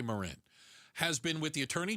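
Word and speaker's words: Morin: Uh, Agent Marin, I hope I'm pronouncing it right. It's M O R I N. I would say Moren has been with the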